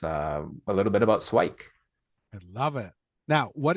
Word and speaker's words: SWIKE: how how do you I like to pronounce it swike just to keep it like one syllable that sort of thing like swiky sounds like Nike I don't know but